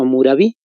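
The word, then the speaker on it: Hammurabi: el código de amurabi con una h y do m se escribe por si acaso amurabi el código de amurabi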